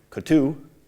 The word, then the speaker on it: Coutu: this is by sherry Coutu I got the name ok accent on the you and she found that